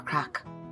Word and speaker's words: craic: what crack no no it's not what you're thinking it's spelled like this honey grabs a napkin